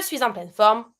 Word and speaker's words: suis en pleine forme: Between suis and en, I do a little link. Je suis en pleine forme.